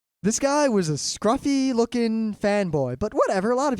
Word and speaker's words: FANboy: I mean, that was his name as far as the Yeah, entire if you just say FANboy, that's not him. That's some other word. FANboy. That's the correct way to say his name.